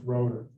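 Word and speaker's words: Rotter: the local control stuff his name is spelled r-o-t-t-e-r but it's pronounced rotor julian road or music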